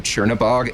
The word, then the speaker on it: Chornobog: The way that I pronounce it, maybe you pronounce it differently. Tchornobog. It is. No, that's how I would say it.